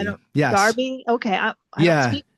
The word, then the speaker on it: Derby: I Derby. don't, Yes. Darby.